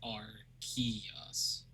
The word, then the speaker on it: Arceus: Apparently, the person who made Pokemon Arceus said, and everyone who has been involved in creation, it says it's pronounced Arceus. Or is it RC? Key?